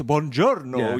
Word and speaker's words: buongiorno: and he's like, it's buongiorno, you're getting lazy on the second syllable.